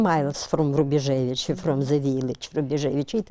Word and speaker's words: Rubejevich: Rubejevich, yes.